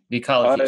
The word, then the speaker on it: Vecology: Vecology.